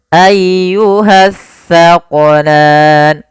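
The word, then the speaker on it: أَيُّهَ الثَّقَلَانِ: Dan hati-hati dalam melafalkan huruf sa. Jangan sampai kita membacanya dengan huruf sin. Nah, sering terjadi kesalahan, banyak di antara kita membaca huruf sa dan sin dibaca sama padahal dia berbeda.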